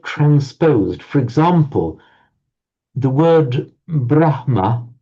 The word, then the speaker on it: brahma: example the word brahma brahma is written and is actually written in David and Sanskrit as well with a hma brahma but you often find people pronouncing the other way around brahma Huh? Yes, they very often do it. Even Brahmans or Brahmans themselves will often swi switch those two.